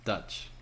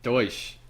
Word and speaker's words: Deutsch: oh it's the huge not Dutch or whatever that douche douche yes thank you finally see I just